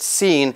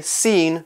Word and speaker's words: scene: know about the word scene is that it has that little C in it it's s c e and e we don't pronounce the C in it it is silent okay scene not skiing so when